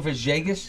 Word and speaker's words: Villegas: Well, Is it the V, like the V is almost like a B. Kind of It's like a V. Camilo It's a V and a B Villegas?